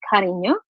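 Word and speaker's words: Cariño: My last name is pronounced as Carino. In Spanish, it's dear or love.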